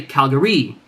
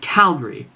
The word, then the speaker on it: Calgary: I would never say Calgary. I would never say Calgary. That sounds silly. I'd say Calgary. The cal is the loudest part.